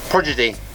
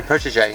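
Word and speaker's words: protégé: Prodigy. What is it? No, protege. Protege.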